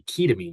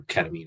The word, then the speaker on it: ketamine: And I've been told that it's supposed to be ketamine because it's a ketone and an amine, but I still prefer ketamine as a pronunciation. But people may tell you you're pronouncing it wrong, but that's how I prefer.